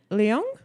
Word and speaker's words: Leung: you may know from Smallville, as Medusa, Ken Leung, is that how you say his name? Yeah. Sorry, Ken. Long.